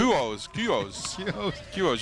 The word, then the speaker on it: Kecoughtan: Kecoughtan. You leave out of the 3 middle letters.